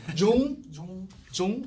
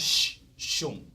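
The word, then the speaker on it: Xiong: It's like the J sound. Very close. It's in fact shung. Shung. Yeah. I think Spanish has some similar pronunciation. Like I know if you guys are soccer fan, you know the previous famous Barcelona player Xavi, right? Xavi also begin with X-A-V-I, Xavi. So very similar.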